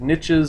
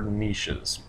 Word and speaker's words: niches: Some people pronounce it niches. I prefer niches.